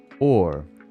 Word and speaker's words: hour: we rot and rot except the pronunciation of our didn't used to be that way it used to be pronounced or which sounds suspiciously like so